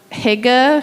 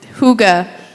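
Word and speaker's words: hygge: Um and the Sunday in between or the Sunday after 12:28 we're going to um have some Higa community. I I'm saying it wrong but Huga.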